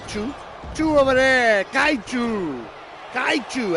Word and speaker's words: kaiju: Kaiu. Actually, that's probably the better pronounce. K. Who threw over yeti? Kaiu. It's almost like a chu at the end.